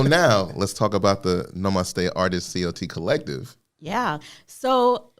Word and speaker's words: namaste: for us but yes can you say the pronunciation again because i want to make sure i'm saying it correctly namaste namaste namaste namaste okay i'm not even gonna